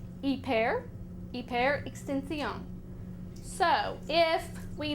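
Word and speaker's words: hiper: Now, the Spanish cognate for this is spelled h i p e r.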